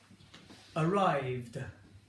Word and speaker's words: arrived: ends with d okay so let's give you an example arrived arrived you can hear that's not a t I'm not saying arrived I'm saying arrived you can hear that du okay now that focuses